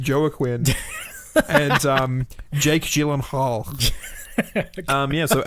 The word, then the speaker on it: Joaquin: pronounced an accident Brady it is just Joe a Quinn and Jake Gyllenhaal yeah